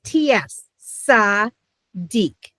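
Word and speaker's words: צדיק: Also someone who is a learned good man would be called a sadik and it's ts sadik.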